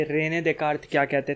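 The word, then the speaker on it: Descartes: अब आज रेने डेकार्तेस के ऊपर बात है। रेने डेकार्त, रेने डिस्कार्तेस बोलते हैं बहुत लोग इंडिया में, लेकिन असली फ्रेंच प्रोनाउंसिएशन है रेने डेकार्त।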